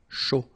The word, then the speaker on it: chaud: All right, so, un cappuccino, not really difficult to produce, un chocolat chaud, remember, C-H, chaud, chocolat, and then final T not pronounced, chaud, final D not pronounced, un café glacé, un thé.